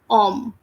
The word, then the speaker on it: homme: The spelling of this men is HOMME. Here, H is silent. As I just told you, H is always silent in French. So we are not pronouncing that H. We are reading the word from O. It is OMME.